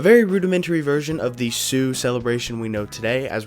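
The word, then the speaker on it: Siu: And the name that I did look up that is how you're supposed to pronounce it comes from his fans hearing him yelling the word C, which is Spanish for yes, and somehow morphed into Sue, which is what the move is called now.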